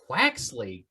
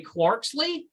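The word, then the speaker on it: Quaxly: Quaxley. Excellent pronunciation. I was going to say Quarksley, and clearly that's wrong because there's no R.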